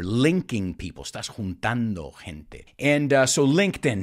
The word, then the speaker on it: LinkedIn: purpose well according to linkedin this is an interesting one too my students always say linkedin but no in english it's linked in and to link somebody